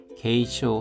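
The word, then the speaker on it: 軽傷: 게쇼 하면 경상이고 중상은 주쇼입니다. 둘 다 장음입니다.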